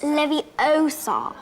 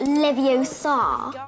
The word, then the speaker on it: Leviosa: you're saying it wrong it's Leviosa not Livio sod yes the ministry has